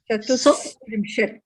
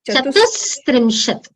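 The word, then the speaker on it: चतुस्त्रिंशत्: It will not be a sh. If there is a sh, it gets changed to a s. Chatustrimshat. Chatustrimshat.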